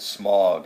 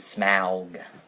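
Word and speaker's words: Smaug: the film I don't like the way they pronounce smog yeah that was really weird they could have just called it smog and I'd have been happy that's how at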